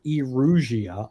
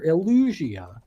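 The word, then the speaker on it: Elusia: No, Like when I play Fire Emblem Engage, I don't hear Erugia. I hear Illusia.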